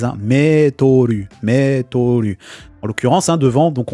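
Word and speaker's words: メートル: Hein, c'est le mot français, hein, je pense français, qui a été katakanaïsé, hein, qu'on prononce à la façon japonaise. Hein, Metoru.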